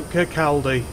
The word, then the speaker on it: Kirkcaldy: No, Kirkcaldy. That's what it's called. That's what it's fucking been said as. Kirkcaldy? That's not how it's spelled. It's spelled Kirkcaldy.